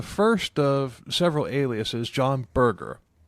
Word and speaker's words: Burge: Yeah, John Burger. What the a John Ber? But he was um Yeah, he actually he didn't pronounced it Burgger, he pronounced it burger, right?